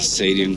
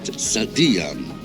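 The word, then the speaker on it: Saadian: the sadium tombs well that's not how you pronounce it I went into a taxi and said I wanted to go to the sadian tounes and he didn't understand anything until I pronounced it sadan then he knew exactly where to go and U it was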